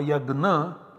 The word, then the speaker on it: yajna: that is this word yajna although it is pronounced in different ways in modern india in different places differently in maharashtra yes in some other parts or yagna in some other parts